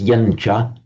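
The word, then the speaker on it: yañca: You always pronounce it as yancha, but you could write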